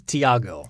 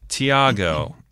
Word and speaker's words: Thiago: thygo I believe it's Thiago Thiago I always wanted to leave the H is silent in that Thiago uh bras de Silva